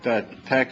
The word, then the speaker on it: TeX: This is the fact that the E is a little lower in here means that you pronounce it TeX, and it's my system.